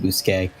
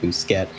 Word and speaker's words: Bousquet: But yeah, so his last name, although it looks like it would be pronounced Bousquet, I got it right the first time, didn't get it right the rest of the night. It is, in fact, Bousquet.